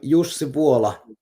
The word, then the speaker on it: Jussi Vuola: your name sir nice to meet you i'm jose paula see i i had not a prayer yeah